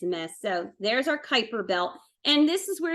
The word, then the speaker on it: Kuiper: It's Kuiper.